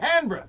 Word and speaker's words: Canberra: Oh, and Canberra. Well, he said it right. Canberra.